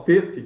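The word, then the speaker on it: טית: para falar Tet também, é o som de T dental enfático. Ele é tenso e duro, e você não tem hoje no Tet essa diferença, tá? a pronúncia hoje é de T mesmo.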